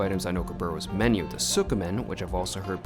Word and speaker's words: tsukemen: There are basically only two items on Okiboru's menu, the Tsukemen, which I've also heard pronounced as Tsukemen, and the Tantori Ramen.